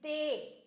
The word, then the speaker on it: des: and the plural is they which means some be careful we don't pronounce the S it's they of course